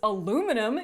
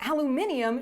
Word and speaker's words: aluminum: It's aluminum, you emotionally repressed tea kettle. People who pronounce it aluminium should be shoved into